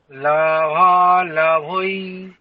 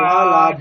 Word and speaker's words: লাভালাভৌ: আপনি যেটা উচ্চারণ করছেন সেটা হচ্ছে ঐকার, লাভা লাভই। আপনি নিজে কান দিয়ে শুনুন, বলুন আর শুনুন, লাভই ঐকার বলছে, ওটা ঔকার হচ্ছে না। তাহলে ঔকার কেমন হবে? ঔ, তাহলে লাভা লাভৌ।